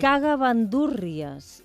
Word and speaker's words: cagamandúrries: Laia és un que jo sempre l'he pronunciat, les poques vegades que l'he hagut de pronunciar, això és veritat, amb M en lloc d'en B. Ah, sí? Cagamandúrries. I jo, equivocadament, ara me n'adono que deia cagamandúrries.